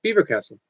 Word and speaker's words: Belvoir Castle: Belvoir Castle is pronounced Beaver Castle.